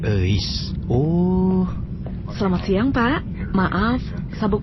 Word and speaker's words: Euis: Namanya Euis. Itu tuh nama Sunda bro, dibacanya Eis.